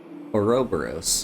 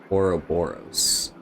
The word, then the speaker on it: Ouroboros: A minor detail, but a snake devouring its own tail is Ouroboros, not Ouroboros. Ouroboros, not... Yeah, whatever. It's pronounced away, and also, if this were me IRL, I would not know.